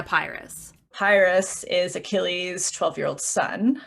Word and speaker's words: Pyrrhus: But then, how do you say his name? Pyrrhus? The son? Yeah, the worst. Yeah, not Paris. It was really confusing because there's a Paris and a Pyrrhus.